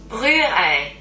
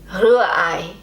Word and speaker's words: Rührei: Rührei. See, I keep wanting to just roll my R's, but the proper German pronunciation is more in the back of the throat.